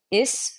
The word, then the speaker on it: is: is all right so is rhymes with this in Middle English not using a z sound and finally V is